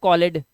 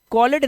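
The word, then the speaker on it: called: तो यह हो जाएगा कॉलेड इसे कॉलेड नहीं पढ़ते इसे सिर्फ पढ़ते हैं कॉल्ड और यह जो ईडी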